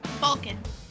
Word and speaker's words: Balcaen: Yeah, it's the Canadian accent that she has. That's what makes it so different.